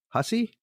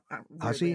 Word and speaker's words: Hussey: So Black Christmas starring, I hope I pronounce this right, Olivia Hussey? Yep. I think it's Hussey.